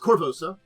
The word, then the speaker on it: Korvosa: So, it is pronounced Korvosa.